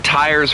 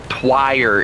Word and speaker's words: tires: You're spelling tires wrong. That's T-I-R-E-S, not T-Y-R-E-S. Spell it right. You British buffoon. Yes. No. T-I-R-E. Twire is what you're saying right now. Twire. Not tire, it's twire.